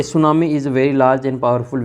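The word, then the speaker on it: tsunami: टी इसमें silent रहता है। तो टी एस यू एन ए एम आई ये सुनामी हो जाएगी और फिर इसमें भरना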